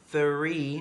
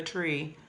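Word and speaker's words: three: Remember pronunciation, 3, not the tree, 3.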